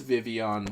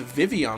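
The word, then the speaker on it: Vivillon: day it is pronounced Vivion what the heck get those L's out of there then I guess because the Double L is pronounced like a y is that what you're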